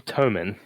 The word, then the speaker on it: Thoman: So that voice you hear is none other than Thoman. Am I and am I pronouncing that right? Is it? Yeah, Toman. Toman? Toman, yeah.